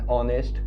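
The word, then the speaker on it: honest: कैन सी N Apple an ऑनेस्ट main okay where H is silent I will discuss this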